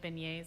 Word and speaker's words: beignet: happy early birthday now she's hoping to get pronounce it is it begets beignet beignet it's a French thing isn't it it's a